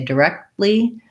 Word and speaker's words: directly: If I say directly, I stop the air for the T, and then I go right into the L sound. So that one sounds more like D or duh with a schwa. Second syllable stress with the red tent vowel, the F vowel, directly.